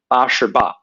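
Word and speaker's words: 八十八: So ba shi ba. That's how they say it in Chinese.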